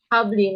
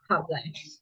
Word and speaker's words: Habli: is Habli, not Hablai. I'm sorry, Habli.